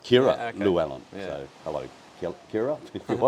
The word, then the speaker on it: Llywelyn: So the double L in Welsh is pronounced as Llywelyn. Llywelyn. Yeah, So that's you gotta crazy. like smile and Yeah. blow through the back of your cheeks, kind of.